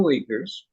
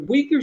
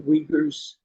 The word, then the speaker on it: Uyghur: ruled by China sometimes how long do you think the weakers were not pronouncing it quite right yeah say that again do you know how to spell that Dave that this this group I'm u-i-g-y-a-r okay that's the that's an English transliteration okay how far back do